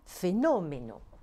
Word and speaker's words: fenómeno: à cette règle et dont on entend l'accent tonique sur la syllabe antépénultième doivent porter un accent écrit afin de signaler cette anomalie. Ce sont des palabras esdrújulas, comme fenómeno. Bárbaro, octógono, silábico, periodístico, plástico, guapissimo.